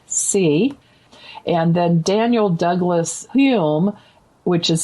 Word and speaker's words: Home: And then Daniel Douglas Hume, which is spelled like Home, like home.